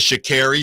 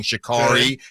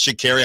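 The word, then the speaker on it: Sha'Carri: mentioned on the show she says shakeri so if you've been saying Shakari it is pronounce shary at least that's how she says it okay so I'm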